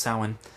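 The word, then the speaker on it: Samhain: like it's spelled Sam Hayne but it's actually pronounced sin right and from what I read it's U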